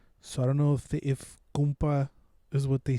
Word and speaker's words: compa: be like, ¿Qué onda, compa? But with a U, compa. I don't know if that's how they say it in Bolivia, but we say compa, because that's like a term for compa is like compañero.